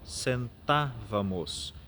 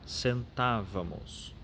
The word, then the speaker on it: sentávamos: Por exemplo, sentávamos. Então nós frisamos o TA, sentávamos.